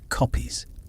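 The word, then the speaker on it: kopjes: And as the mist clears from the rolling hills, you see why the landscape here is dotted with copiers, pronounced copies.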